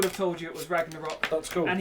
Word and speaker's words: Ragnarok: told you it was Ragnarok, That's cool. and he would have pronounced it Reggae Rock.